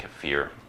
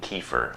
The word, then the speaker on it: kefir: US call it cafir but it should be pronounced a bit more like cfir I mean sorry most people in the US pronounce it like kefir but it should be more like cfir you